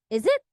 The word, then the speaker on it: is it: is is it and it's pronounced as a z sound instead of s is it is it is it